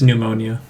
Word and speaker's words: pneumonia: phenomena i don't know the p is silent it's just pneumonia like pneumatic don't don't you tell